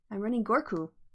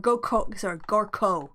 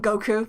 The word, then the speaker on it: Gorko: I guess I'm running Gorku or Gorko, I should say. So, yeah, Gorkoh. Gorko. Yes. Yeah, we can call him Goku. That's fine. That's a common pronunciation.